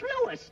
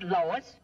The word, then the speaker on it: Louis: Me name is Lewis, not Lois. Gee whiz, everybody interpolates me name wrong. It's Lewis. L-O-U-I-S.